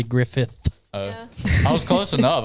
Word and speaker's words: Griffith: names of shows wrong it is Andy Griffith oh I was close